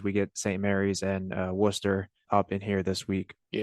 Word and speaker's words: Worcester: We got it in the pronunciation guide in the on the roster. Not Worster. Worcester.